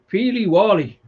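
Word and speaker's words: peely-wally: only October or November let's have a look in save me Google in it pronounce peely Wally that's what it says it says phonetically so that's how you pronounce it I fig I do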